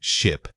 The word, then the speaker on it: ship: Ship. Say it quickly and focus on that short clipped I sound.